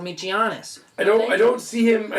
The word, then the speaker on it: Giannis: I don't see him as It's a soft G. Giannis.